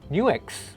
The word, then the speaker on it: NUX: something from nux or apparently it's pronounced new x suggest a good quartus